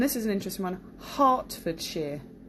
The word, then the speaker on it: Hertfordshire: is an interesting one Hartford sheer so not Hertfordshire but Hartford sheer the Isle of Wight